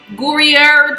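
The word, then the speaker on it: Gruyère: got some brie cheese gourier cheese is how you pronounce it and then i got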